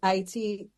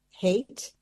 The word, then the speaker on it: Haiti: And so Haiti, the reason they say hate, that is not the pronunciation, it's Haiti.